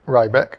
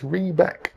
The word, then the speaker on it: Riebeck: Uh, I pronounce it Riebeck and so do a lot of the gamers, but I Googled it and it says uh, you can pronounce it Reebeck, which is tied to the Riebeck riebeckite mineral. So, it's Reebeck.